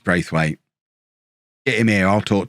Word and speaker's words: Braithwaite: You've all told me as well that it's pronounced Brathwaite rather than Braithwaite. I remember the commentators saying it like that during the Euros as well. I do remember it, but no, it's not. It's Braithwaite.